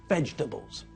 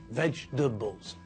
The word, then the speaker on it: vegetables: but we know that when we pronounce the word we squash the middle bit together so that when we say it the word only has three syllables vegetables vegetables I can think of